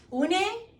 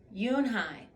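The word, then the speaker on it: Unhei: "Une?" the girl asked, scrunching up her face. "Ooh, ooh, ooh, Une," some of the kids chanted. No, Eun-hai corrected. It's spelled U-N-H-E-L. Whoops. It's pronounced Yoon-hai.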